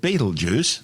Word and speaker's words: Betelgeuse: stars visible with the uned eye commonly called Beetle Juice don't say it three times its name before centuries of tortured mispronunciations started out as IAL yaza meaning hand